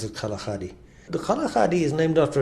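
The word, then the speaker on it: Kgalagadi: of the kalaka western people would call that Kalahari but in fact in sitana we pronounce it kaladi the kaladi is named after a type of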